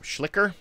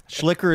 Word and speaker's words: Schlichter: I think you put a T in there. Schlicker? Schlicker. I like the way Derek gave a pronunciation for his first name, but Derek, not his last name. And then I went ahead and messed up his name. Thanks, Derek. Schlicker is quicker.